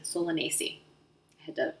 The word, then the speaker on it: Solanaceae: The Latin name is Solanaceae. Solanaceae. I had to spell that out for myself because it looks different than it sounds. Solanaceae.